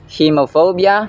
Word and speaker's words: hemophobia: And by the way, ang pronunciation nito sa first syllable ay long e vowel sound. He hemophobia, hemoglobin. Hindi siya he kundi he. Ngunit may isang dugo na hindi dapat natin kinatatakutan.